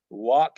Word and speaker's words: walk: the b it's silent walk and talk we don't say walk and talk the L is silent very often the first